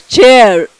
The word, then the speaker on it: chair: It is pronounced as chair. R is not pronounced very much. We are still following British English, so there the R is little less.